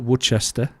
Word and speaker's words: Worcestershire: Ben and I are, how many variations of Worcestershire have you heard of? I think my mum's English and she calls it Worcester. Yeah, Worcester. I've heard, obviously, like the American pronunciation of it is like Worcestershire.